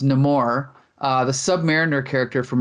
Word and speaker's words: Namor: of vibranium and it happens to be um Neymar but in this movie it's pronounced nemour uh the Submariner character from Marvel Comics who